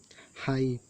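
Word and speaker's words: high: एच टी है तो ये जी एच को साइलेंट है, इसको नहीं पढ़ा गया, डायरेक्ट एट पढ़ा गया है। एट means 8। हाई, हाई means ऊंचा, डायरेक्ट हाई पड़ा गया क्योंकि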